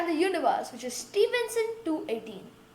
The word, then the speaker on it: Stephenson 2-18: We are talking about the largest discovered star in the universe, which is Stephenson 218. Pronounced as Stephenson 2-18, and it's located in